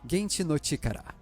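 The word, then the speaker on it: 原始の力: Ancient Power, conhecido como Primeval Power em japonês, pronunciado Genchi no Chikara, uma palavra que é homófona, ou seja, pronunciada da mesma forma que os japoneses falam poder atômico.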